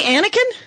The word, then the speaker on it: Anneken: Local dork luminary, Anneken? Yes. Am I pronouncing that? You're pronouncing it correctly. That is exciting, much like the Star Wars character Anakin.